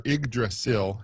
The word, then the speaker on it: Yggdrasil: their system to get on the internet yep egg drasol has our igdrasil as it is pronounced is the world tree norse mythology and